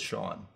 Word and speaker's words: Sean: that's Sean yeah I know Roisin no you pronounce it Sean that's how they're not really the only single